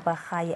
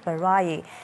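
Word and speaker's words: Barayi: Currently, Well, we do know that he started off by correcting us all and many others with the pronunciation of Mr. Elijah as Elijah Bahayi and not Barai.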